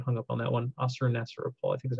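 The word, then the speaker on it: Ashurnasirpal: period under the Neo-Assyrian Empire, under the king Assur-nasir-apal. I always get hung up on that one. Assur-nasir-apal, I think is how you say it.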